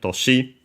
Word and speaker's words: 年: have seen the uh strictly Japanese reading is toshi accent on the last mora ignore the other ki